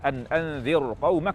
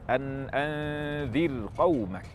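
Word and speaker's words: أنذر قومك: Maka saat kita membaca anzir qaumak, ra dibaca tarqiq, bukan anzir qaumak tafkhim. Yang tepat anzir qaumak.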